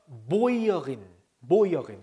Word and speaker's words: Bäuerin: 자, umlaut의 u는 오이라고 했죠. 오이. 자, 그냥 일단 우니까 Bauer가 맞는데 die umlaut가 붙으니까 umlaut의 오이죠. 오이. 그래서 Bäuerin. 그죠? 발음이 좀 달라지죠.